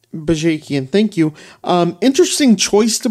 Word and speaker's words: Bajakian: Brought in a new one who I don't know how to pronounce his name, Sam. Mike Bajakian. Bajakian, thank you.